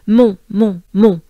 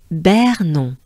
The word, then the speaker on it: Montbernon: So, mon, right? Then, the second part is Bernon. So, we have a sound as we had in Epernay, R. Here we have bear. Yeah, you could think of a bear. You could pronounce it with a French accent. Bear, really. Bear, R. Bear. Non. If you know that this is the French way of saying no, you have it. So non, right?